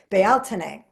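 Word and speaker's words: Beltane: it looks like belan b l t NE and it's pronounced I think baltin and because it's the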